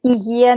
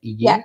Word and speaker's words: Hygieia: How do you pronounce it? So it's Hygieia Naturopathic Clinic. Okay. And what does Hygieia, right? Hygieia.